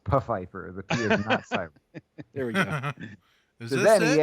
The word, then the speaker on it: Pfeiffer: to meet you Mr Pfeiffer and he goes oh no no it's pronounced buffifer there we go then